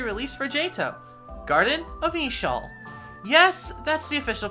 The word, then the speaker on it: Eeshöl: the next area release for jato garden of eshoal yes that's the official pronunciation confusing name but for this video i'll